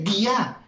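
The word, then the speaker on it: διά: Mediante, esa palabra mediante en el griego es la palabra dia. Se escribe como escribir día, pero se dice dia.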